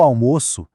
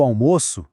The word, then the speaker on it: almoço: Com o som do Oa fechado, o almoço é a refeição. Com o som do ou aberto, eu almoço vira o verbo, a ação.